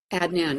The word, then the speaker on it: Adnan: Is it Adnan? Is that how we pronounce his name? Adnan.